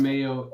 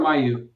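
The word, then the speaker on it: Mayeaux: Is it Mayo or Mayu? I think it's Mayo. The X is silent? M-A-Y-E-A-U-X. there's an X. Yeah, on the end.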